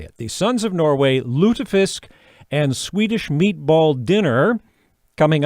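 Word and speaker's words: Lutefisk: It's Lutafisk. And I I would have been right, by the way. That is the way I was going to say it. The Sons of Norway Lutafisk and Swedish meatball dinner coming up on the 31st.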